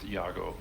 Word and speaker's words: Iago: any Servo skull it's Iago oh he has the name now yep it's one a 1 a g0 1 a60 pronounced Yago um and so yes